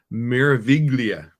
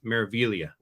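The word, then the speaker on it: Meraviglia: are on the MSC miraviglia or no maravilia the g is silent so um I'm also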